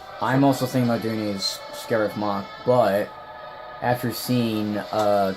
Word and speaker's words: Scariff: on script is scared Scariff we all thought was grief but then in the movie they scare if so that's how you actually pronounce the name and that was an